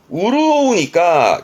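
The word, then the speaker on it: 潤う: 이게 윤활유 윤활유 준카츠유 요게 이윤 은행에 뭐 맡기면 나오는 이윤 발음은 리준 음독으로는 요 정도입니다. 네, 훈독으로 시험 때 많이 나오는 게 이게 우르오우니까 윤택해 윤자니까 뭔가 윤택해지는 기본적으로는 뭐 촉촉해지는 그런 부분도 있습니다만 생활이 풍요로워지고 윤택해지는 쪽으로 많이 쓰고요.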